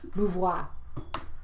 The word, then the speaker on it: Beauvoir: Let me spell it. B-E-A-U-V-O-I-R. Beauvoir.